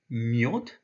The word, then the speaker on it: мёд: And here we have the yo sound, so this is pronounced myod.